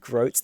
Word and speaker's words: groat: Fuck off with your stupid groats. That's not how you spell it. It's like goat, but with an R.